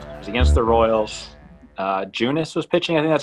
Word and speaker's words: Junis: Junis was pitching.